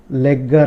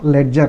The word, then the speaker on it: ledger: which is called as legger line. Legger line or ledger line, you can call it as ledger line. Spelling is this only, ledger line. You can pronounce it as legger line also.